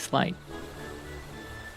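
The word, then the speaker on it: sleight: of hand slight I think that's slight I know what it means but I can never remember how to pronounce it slight yeah it is slight with a little slight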